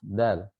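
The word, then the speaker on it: د: Adapun dalam bahasa Arab, huruf dal itu keluarnya dari ujung lidah bertemu dengan pangkal gigi seri.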